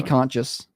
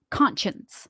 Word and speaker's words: conscience: fix the screen guilty conscious conscious conscious conscience conscience there you go I didn't say it right no you were saying it like I I regained Consciousness conscience yeah it's the same